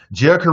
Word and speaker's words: Jerica: Jerica writes, hola, beautiful black people, and the others too. She writes, it's pronounced like I dream of Jeannie. There is no I in my name.